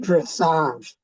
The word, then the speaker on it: dressage: Marcus, it's pronounced dressage.